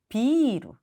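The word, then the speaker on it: ビール: 따라서 단어가 완전히 달라집니다 예를 들면 맥주 비루 빌딩은 비루 완전 다르죠 중간에 이비가 길게 발음이 되면 일본인들은 아 맥주구매 없이 그냥 비루하고 하면 빌딩이라고 이해를 하기 때문에 한국어에서는 장음이 크게 작용하지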